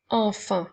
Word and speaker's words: enfant: qui s'écrit un ensuite le mot enfant commence par le son a et n le son et le son 1 cette fois-ci qui s'écrit a n T est une lettre muette alors attention parce que